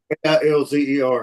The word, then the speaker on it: Kilzer: Yeah, Kilzer. Hang on a second. I'll show you what it looks like. Yeah, spell it again.